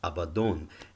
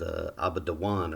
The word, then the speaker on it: Abaddon: maybe elsewhere and that the standard understanding of that word would be that it's pronounced Abaddon and about doing they would say no it's pronounced about the one or something like that but you see that